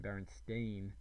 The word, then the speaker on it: Berenstain: you're right i'll admit even now the correct pronunciation Berenstain sounds downright foreign the thing is we're talking